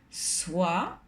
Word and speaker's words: soi: Acordaros que la OI dan el sonido wa, como en voiture. Voiture. Soit est le pronom tonique qui correspond à tout le monde.